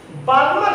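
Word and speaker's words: Balmer: बार्मर series, कुछ लोग इसको बामर कहते हैं, एल को साइलेंट कर देते हैं, बामर सीरीज।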